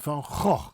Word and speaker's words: Van Gogh: Vincent van Gogh. The people in the south tend to have a soft G and they say Van Gogh.